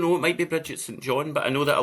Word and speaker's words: St John: Her name is Bridget St John. St John, you're supposed to say.